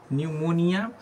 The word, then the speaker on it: pneumonia: Pleuro न्यूमोनिया, PNEUMONIA, न्यूमोनिया sound आ रहा है न्यूमोनिया पर P साइलेंट है, ठीक है।